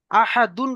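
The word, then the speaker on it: أحد: আহাদুন রয়েছে, করব কি আহাদ। খুসরিন রয়েছে, কি পড়বো?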